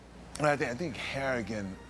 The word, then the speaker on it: Harrigan: I think I think Harrigan rhymes with arrogant it's a good way